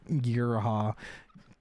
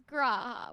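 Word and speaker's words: G'raha: I've heard both pronunciations. Okay, well that one's wrong. His name is Graha. What the fuck is he? Look, I think I did an okay job for someone who hasn't played. No, that's fine. I'm saying whoever taught you that pronunciation is wrong.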